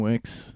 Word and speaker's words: Wicks: How do you say his last name? Wikis? Dan Wicks. Wicks.